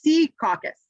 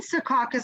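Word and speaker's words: Secaucus: when you look up the phonetic spelling it's sea caucus oh the emphasis is on the sea yes was like I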